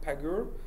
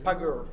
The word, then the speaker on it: Pagure: We are currently building a tool called Pagur, which is kind of GitHub-like clone for both for Fedora, but which would be reusable by anyone. What's it called? Pagur.